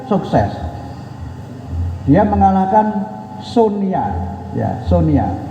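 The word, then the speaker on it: Sony: Dia mengalahkan Sonia, ya Sonia. Dulu di kampung bacanya kan Sonia kan, tapi kita bacanya kan Sonia karena di Jepang itu konsonan yang ada itu kan N.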